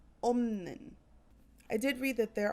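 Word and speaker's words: 없는: If you look at opta, opta, this form would be pronounced omnin.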